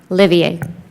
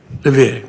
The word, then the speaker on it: Livier: Did I pronounce that correctly? Livier. Livier.